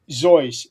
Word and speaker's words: Seuss: But for people who ask him, he would initially say that is actually Zoyce, but he came to accepting both pronunciations, and over time, that's how it became accepted.